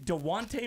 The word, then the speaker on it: Dejounte: I can't pronounce go is it dejante Murray dewante Murray you got it right the first thing he